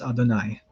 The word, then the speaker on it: Adonai: from here on out, whenever we run into the Tetragrammaton in the Hebrew text, we shall be pronouncing it as Adonai.